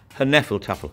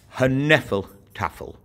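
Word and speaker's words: Hnefatafl: be able to play her nephal tougher path her nephal Tafel georg doesn't tend to pronounce the hitch but i find it a lot more fun her nephal tougher and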